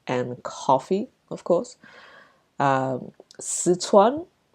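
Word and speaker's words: Sichuan: coffee of course um suan Cuisine look I I'm not sure if I'm pronouncing it uh 100% accurately either sitan is probably the very English way of pronouncing it um it's a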